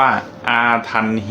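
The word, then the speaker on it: อาถรรพณ์: โยนี อาถรรพ์ เนี่ย หรือ ถ้า ออก เสียง เป็น สำเนียง ตาม ต้น ฉบับ น่ะ ก็ ออก เสียง สำเนียง ว่า อาทัน ฮี น่ะ ออก เสียง ชัด มาก ไม่ ได้ นะ อาทัน ฮี ก็ คือ ถ้า แปล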